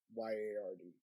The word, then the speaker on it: Rudyard: supposed to be like the best friend of Rudyard. Rudyard, in a way, is a funny name in itself, because I don't think I've ever heard Rudyard. It's Rudyard.